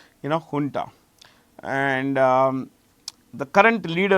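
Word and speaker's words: junta: by the military ha this J is pronounced H remember this ha okay we found a dance the jarandi dance ha folk dance. So this is honta here and u so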